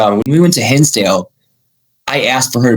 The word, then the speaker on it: Hinsdale: Well, walk us through like what was um I'm going to pronounce this horribly. Uh Kenale. Kinsdale. Yeah. H I N Hinsdale.